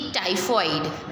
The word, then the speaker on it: typhoid: कुछ लेटर्स ऐसे होते हैं जिसका प्रोनाउंस नहीं होता है, जैसे कि टाइफॉइड, राइट। तो TYPHOID, तो वो स्पेलिंग टाइफॉइड का होता है, बट जिसमें प्रोनाउंस